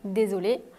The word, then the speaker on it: désolée: Si vous êtes une fille, je suis désolée. À l'oral, on n'entend pas la différence, mais à l'écrit, il faut le E.